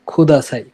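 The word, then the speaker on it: ください: যেমন এই যে খোদাসাই উচ্চারণটা হচ্ছে খোদাসাই। তো এটার ক্ষুদায়ের খটাকেও আপনি স্ট্রংলি উচ্চারণ করতে পারবেন না। ক আর খ এর মাঝামাঝি একটা উচ্চারণ করবেন।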